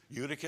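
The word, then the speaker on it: Eutychus: Anyone look up to see how that name is actually pronounced? Because most of the time, what was it? Udicus. Udicus.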